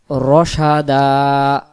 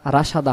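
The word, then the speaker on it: رَشَدًا: ইজা আওয়াল ফিতিয়াতু, ইজা আওয়াল ফিতিয়াতু ইলাল কাহফি فقالوا ربنا آتنا من لدنك رحمة وهيئ এমন আওয়াজ হবে, লানা মিন আমরিনা রশাদা, রাশাদা হবে না, রশাদা বাংলা দিয়ে দেন, রশাদা বাংলা দিয়ে এবার উচ্চারণ করে আয়াতটি।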